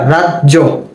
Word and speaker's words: রাজ্য: র আকার রা জ, রাজ, এরপরে আবার জ ওকার, রাজ্য, রাজ্য।